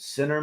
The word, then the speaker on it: Ciner: It's pronounced Sinner, okay.